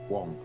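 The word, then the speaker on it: Huang: want to research him the wong is spelled h-u-a-n-g wong uh we know one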